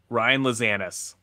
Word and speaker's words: Ryan Lazanis: Ryan Lazanis.